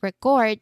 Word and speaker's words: record: The stress now moves to the second syllable because the action is what matters.